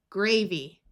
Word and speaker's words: gravy: Y at the end of a longer word usually has a long E sound, gravy.